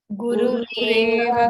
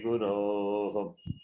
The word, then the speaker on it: गुरोः: गुरुनैव सहास्मि नमो गुरुवे न गुरोः परमं शिशुरस्मि गुरोः न गुरोः परमं शिशुरस्मि गुरोः गुरोः not गुरुः मतिरस्तु गुरौ मम पाहि गुरो मतिरस्तु गुरो मम पाहि गुरो उकारन्त शब्द गुरु शब्द विनो गुरुः Yes.